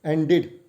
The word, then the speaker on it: ended: So end is the verb ending with ed sound, but as I said, if before ed sound we have d sound, it is pronounced as id sound. So it is ended.